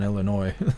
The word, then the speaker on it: Illinois: oh no why did Illinois look like it just went blue I'm pretty sure Illinois was blue I don't know why I've been saying the S on Illinois I don't know why